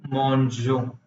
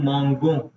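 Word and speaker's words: mangeons: तो नू मॉन्जो, अभी साउंड ठीक है, जी प्लस ई जो. जी, right, right. Otherwise earlier it वाज नू मोंगो, हाँ, जो कि हमें नहीं लग रहा है कि ऐसा होना चाहिए था. ठीक इट्स है. Not desired. सो नू मॉन्जो.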